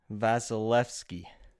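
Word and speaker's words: Vasilevskiy: and we'll go to the next one Andre vasilevsky is that good that was perfect we have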